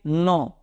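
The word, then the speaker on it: know: के तो के को पढ़ना नहीं हम क्या पढ़ेंगे नो कनाव नहीं पढ़ते लोग कनाव बोलते कुछ लोग तो इट्स नो उसी तरह दरवाजे में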